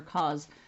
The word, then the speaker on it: cos: tan so the causes the cosine is pronounced as if it's a z for cos and tan and we